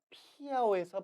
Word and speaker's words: 漂: 이 글자는 원래 일성입니다.